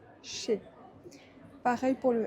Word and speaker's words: chez: Pourquoi on ne prononce pas le Z? Parce que EZ ensemble, ça crée le son E, chez.